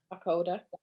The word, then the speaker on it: Aucoda: Aucoda, yeah.